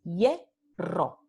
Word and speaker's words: hierro: Entonces, aquí tenemos las dos sílabas, hierro. Y sabemos que ye ocurre al principio de la sílaba. Entonces decimos hierro.